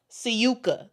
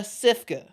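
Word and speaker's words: Sivka: seems like it's pronounced to me is Aisha Syuka. That seems like the pronunciation. But a lot of people a lot of people are saying um Aisha Cifa because it looks like CIFA.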